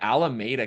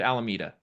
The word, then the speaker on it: Alameda: Look at Alameda County, or is it Alameda? Alameda. Alameda. The people always get me on the pronunciation of some of these areas in California.